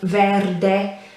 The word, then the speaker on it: verde: in italian very similar you just pronounce the e on the end whereas in english it would be silent um verde and the r obviously you need to roll it i the way i